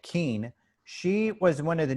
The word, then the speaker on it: Kean: nukes by robert hastings leslie kane and it's spelt k-e-a-n like keane she was one of